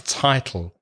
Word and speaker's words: title: the pronunciation of title the vowel sound is I like my or bi or tri so it's a title I'm not sure of